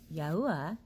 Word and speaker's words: Yahuwah: And then when He pronounced His name, Yahuwah, it's the literal sound of breath. The yeah. No other name for our Creator makes the phonetic bronchial sounds of breath.